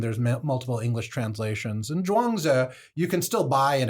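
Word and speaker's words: Zhuangzi: It's pronounced Dwangza and it means master Dwang or Sir Dwang.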